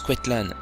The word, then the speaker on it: Coetlan: Dans cet acte, il paraît clairement que ce patronyme se prononce Quetlan, bien qu'il s'écrive Coetlan par ailleurs.